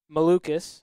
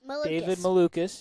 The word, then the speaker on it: Malukas: And I cannot remember how to pronounce his last name. Malukas. David Malukas.